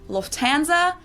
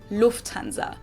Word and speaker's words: Lufthansa: In English, people usually say Lufthansa, but in German, we say Lufthansa. So the emphasis is on the first syllable.